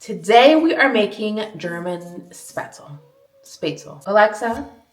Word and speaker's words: Spätzle: Today we are making German Spätzle. Spätzle. Alexa, how do you say Spätzle in German? Spätzle.